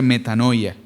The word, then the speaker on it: metanoia: La palabra en griego se eh se se pronuncia metanoia.